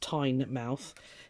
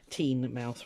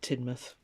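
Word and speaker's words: Teignmouth: called tinmuth or as it's supposed to be pronounced tine mouth teen mouth rather not thyme um but we locals just called it tinmuth laziness i expect uh yeah it's lovely and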